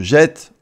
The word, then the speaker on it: jette: Alors que E précède un e muet, le t devient un double t. Et ça a le même effet de prononcer e. Exemple, je jette E.